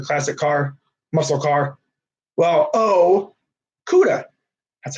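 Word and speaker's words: Okudah: you know I do guys in case you don't know how to say his name it's o khuda you know for my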